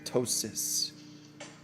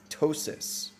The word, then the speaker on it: ptosis: That is ptosis. It's not ptosis. It's probably ptosis.